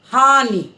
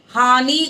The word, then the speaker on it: हानि: तो आप शुद्ध लिखेंगे अब छोटी की मात्रा को हमेशा क्या करते हैं थोड़े झटके से बोलते हैं हानि नींबू जाकर रुक जाती है आवाज हानि कहेंगे तो वह खिंचेगी और खींचने से बड़ी की मात्रा का भाव देगी लेकिन हानि और हानि